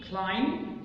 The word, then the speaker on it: climb: يعني مثلا هنا لو عندي word ending منتهيه ب MB تبقى البي سايلنت، like come, lamb, climb, down. come, lamb, climb, down. فلو الword الكلمه منتهيه ب MB البي سايلنت.